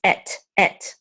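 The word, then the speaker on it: אֵת: So this is et, okay?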